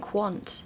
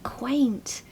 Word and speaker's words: quaint: okay so quaint so we've Really Got A W sound here I really like the